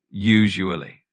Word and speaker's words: usually: You'll want to put the stress on the first syllable, so it's usually. The emphasis is on that first part.